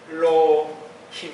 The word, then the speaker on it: 엘로힘: 이거는 이제 그냥 그래서 이게 엘로힘 이렇게 발음하면 돼요.